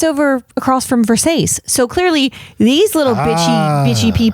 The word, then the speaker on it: Versace: And she's like, it's a Versace. And he is nice and is like, no, it's pronounced Versace.